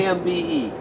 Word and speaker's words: imbe: All right, here we got imbi. How do you pronounce it? Imbi? IMBE. I-M-B-E.